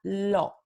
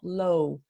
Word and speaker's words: lo: Entonces, este pronombre lo en español se pronuncia lo. Pero muchos de nuestros muchos hablantes nativos del inglés que están aprendiendo español tienen una tendencia de pronunciar esta palabra como low, porque en inglés tenemos